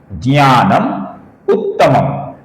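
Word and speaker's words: ज्ञानमुत्तमम्: कुछ लोग इसका उ ऐसा उच्चारण करते हैं। गलत है। ये ह्रस्व उ है। ज्ञानम उत्तमम। ह्रस्व अर्थात छोटा उ।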